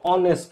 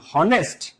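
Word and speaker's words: honest: দেখ তোমাদের এই নিয়ে তোমরা জানতে চাচ্ছিলে যে অনেস্ট ম্যান এইটা কিরকম এইটা একটু আমি তোমাদেরকে দেখা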